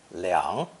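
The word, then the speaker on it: 两: special character for two pronounced third tone liang liang this idiogram is a depiction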